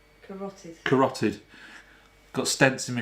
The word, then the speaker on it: carotid: I can't even see how it's spelled. Karthoid. Carotid.